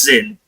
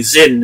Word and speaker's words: Zyn: Or apparently Zin is how you guys pronounce that.